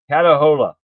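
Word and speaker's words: Catahoula: Katahola is how it's pre pronounced pronounced.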